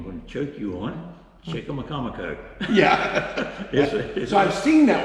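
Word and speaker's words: Chicamacomico: a name I'm going to choke you on, Chickamaucomico. Yeah. So I've seen that one printed out, but I didn't know how to pronounce it.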